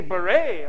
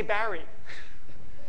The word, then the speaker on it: beret: The French say beret. Oh, I'm wearing a lovely beret in Paris, right? They say that. And we say Barry, sort of.